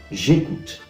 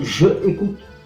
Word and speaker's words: j'écoute: J'écoute. Donc je écoute, pero j'écoute.